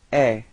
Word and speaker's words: est: And then for il, masculine, il est. So it's quite strange because it does sound the same as tu, okay, but then there is this final T, but you don't pronounce it.